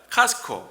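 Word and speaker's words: Costco: 그런데 이제 그 목사님께서는 코스트코가 아니라 카스코 이렇게 반하는 거라고 얘기해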